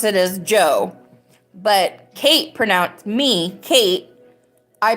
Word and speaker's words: Djo: He goes by Joe, even though it has a D in front of it, which makes